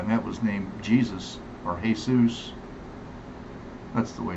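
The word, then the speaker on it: Jesús: other guy I met was named Jesus or Jesus. That's the way it's pronounced. Jesus.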